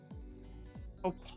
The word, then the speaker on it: opossum: Is that not how you pronounce it? Opossum.